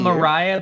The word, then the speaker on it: Mariah: Yes, It is spelled Mariah, but it's Maria. It's the H is silent.